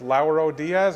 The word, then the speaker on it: Lauro Diaz: I'm here with Lauro Diaz. Am I pronouncing that right?